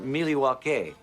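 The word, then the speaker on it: Milwaukee: Actually, it's pronounced Milwake, which is Elangquin for the good land.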